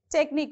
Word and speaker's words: technique: be on t okay next technique even technique also last syllable okay so how